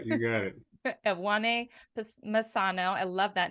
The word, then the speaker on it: Masango: guest today I want a Masano did I pronounce that again right yeah you got it at 1A Masano I love that name and he is and